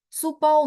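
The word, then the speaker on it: 书包: Iya, jadi supau itu pakai SHU, Bu.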